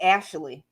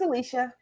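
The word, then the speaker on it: Alysha: stick with us draw all my teachers called me ashley i'm like no it's alicia thank god for alicia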